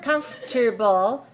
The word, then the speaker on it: comfortable: on bull - alright remember this word doesn't look like the way it sounds comfortable very comfortable very comfortable